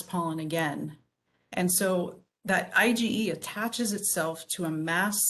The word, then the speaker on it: IgE: to be confused with governor ige this is pronounced ige and it's an antibody that we all produce